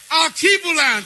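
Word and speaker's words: Alkebulan: l a n Alan now let's say it aluan come on let me hear you that was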